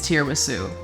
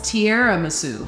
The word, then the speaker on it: tiramisu: layer inside of this tiramisu. Fun fact, I was like today years old when I learned how to properly pronounce tiramisu. I always thought it was tiramisu, like tiara, the crown.